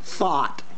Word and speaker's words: thought: pronounce it through and thought going going there's no r in th th thought she was very brave